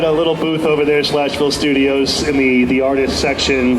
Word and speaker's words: SLASHville: SLASHville. Like Nashville, Like but Nashville, but SLASHville Studios.